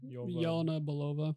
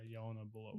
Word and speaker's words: Yelena Belova: Yelena Belova. Yeah, Yelena Belova.